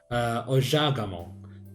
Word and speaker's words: Ojagamo: You could see that word final en, it's permitted because it's the stressed syllable. And you could also have that good feel, that the stress timing and the iambic nature of this language.